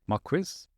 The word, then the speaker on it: Marques: Marques?